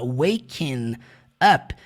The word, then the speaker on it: waking: Quando ele fala waking up, que o G do ing não tem som algum, ele literalmente junta I